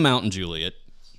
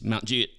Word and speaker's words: Mount Juliet: But if you're from here, you pronounce it Mount Juliet. No. It's Mount Juliet. It's Mount Juliet. If you're from Mountain Juliet, it's Mount Juliet.